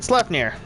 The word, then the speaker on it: Sleipnir: It's pronounced Sleipnir.